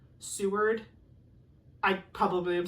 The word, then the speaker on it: Seward: I think one of the ones I butchered was like I said C word, but it's Seward.